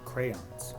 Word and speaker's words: crayons: It is crowns. They should change the spelling to Crowns. Crowns. So I will say crowns, but I know, and I try so hard to say crayons.